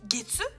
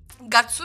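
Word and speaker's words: 月: Et en japonais, eh bien, il faut mettre d'abord les mois, donc getsu, et ensuite le jour, nichi. Gatsu, pardon, je crois que j'ai mal prononcé.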